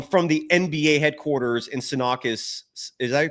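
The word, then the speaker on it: Secaucus: been leaked um from the NBA headquarters in sakis is that you pronounce it s sakas sakas thank you uh in sakas New York it found out that it could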